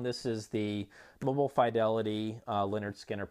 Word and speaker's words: Lynyrd Skynyrd: This is the Mobile Fidelity Lynyrd Skynyrd, pronounced Lynyrd Skynyrd.